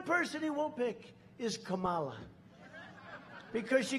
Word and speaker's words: Kamala: No, my name's Kamala, like comma.